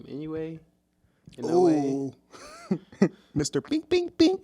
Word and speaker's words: Inoue: How do you pronounce his name? Inoue.